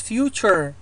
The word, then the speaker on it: future: في آخر الكلمة ممكن أن يأتي عندي T-U-R-E chur chur، مثل future future، ولاحظوا الآر لا ألفظها future وأشد عليها كما نفعل في العربي، it's future يعني رأس اللسان يضرب بسقف الحلق تقريبا.